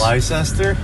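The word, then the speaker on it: Leicester: of any of this leester the most difficult to pronounce town in all of Massachusetts Lester yeah exactly yeah uh it's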